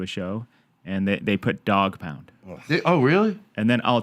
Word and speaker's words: Douggpound: It's DJ Douggpound.